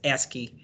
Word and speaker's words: ASCII: everybody pronounces that as ascii all right to store